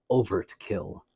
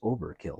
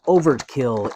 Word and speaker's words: Over-T-Kill: are unboxing this is over to kill now you may say I think you're mispronouncing it I think it's Overkill but no no no he has a t in there uh overtkill is a giant robot